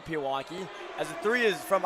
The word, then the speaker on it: Pewaukee: of the times did I say it it's Pewaukee gotcha I definitely some people definitely do say Pewaukee as a three is from Isaiah Robinson is